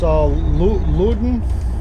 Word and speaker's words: Loudoun: Got a load today going from Toledo to I believe it's pronounced Loudoun, Tennessee, just outside of Knoxville.